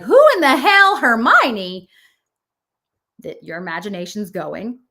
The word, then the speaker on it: Hermione: Harry Potter books and I just thought it was Herian was Hermeion. Herion was her name and then they went Hermione and I was like who in the hell Hermione that your imagination's going.